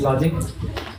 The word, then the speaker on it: LODGIQ: So it's LODGIQ, but we pronounce it as Logic.